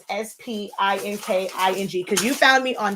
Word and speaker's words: Spinking: So it's spelled like not the regular word speaking. It's like ink. It's a play on words. So it's SPINKING because you found me on Silaholics Anonymous.